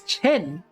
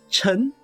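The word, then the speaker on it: Ch'en: operator that we pronounce chen chen is not pronounced as chen chen is chun and then there's like uh two yay which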